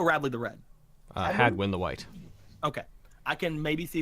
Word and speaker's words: wight: has an alternate pronunciation from white.